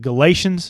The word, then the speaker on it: Galatians: Is it Galatians?